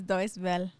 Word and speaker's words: Deutsche Welle: Deutsche Welle. I'm gonna go with that. Well, you take German, so you tell me. It's Deutsche Welle.